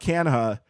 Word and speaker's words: Canha: the same thing so Mark canha um that is not the correct pronunciation of his name but his family nope his family going back like four generations just went with it they were like they